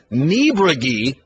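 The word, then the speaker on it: Niebrugge: we had to figure out, honestly, I'll be honest, I had to ask today how to pronounce the name of the other one, who's tied for 6th. Jordan Niebregi, who is an Oklahoma State Cowboy, 21 years old.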